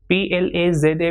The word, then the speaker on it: plaza: PLAZA will be pronounced as plaza.